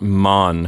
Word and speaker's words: Mann: And Lisa, what about Mann? How does the umlaut affect the pronunciation of the plural?